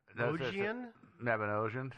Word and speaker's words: Mabinogion: How many lines of code remained when the Maganedon? How do you say that? Mabinogion, yeah.